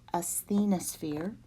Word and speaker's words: asthenosphere: So this is pronounced asthenosphere.